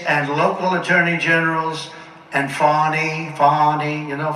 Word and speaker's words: Fani: local attorney generals and Fani, you know, Fani spelled F-A-N-I. My name is Fawny, F-A-N-I. I don't figure it. She put a little French accent on the word with her lover Wade, right?